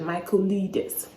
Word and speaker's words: Michaelides: I literally had to Google the pronunciation of his last name. I wasn't sure what it was, but yeah, I got it right. I guess it's the right pronunciation, Michaelides.